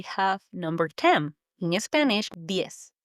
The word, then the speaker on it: diez: In Spanish, diez. D-I-E-Z. Diez. It's quick, almost like you're saying yes, but with a D in front.